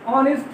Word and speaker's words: honest: Such as an honest man, having ONE after A's. So A's is silent here.